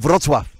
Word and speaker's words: Wrocław: Yeah, and I was told, if it is Wrocław, I was told I've got one of the best pronunciations of any English. Yeah. Wrocław.